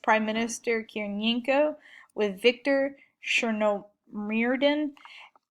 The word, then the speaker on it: Chernomyrdin: Hold on one second, because I practiced pronouncing these names. Okay, so in 1998, Yeltsin replaced Prime Minister Kiriyenko with Viktor Chernomyrdin.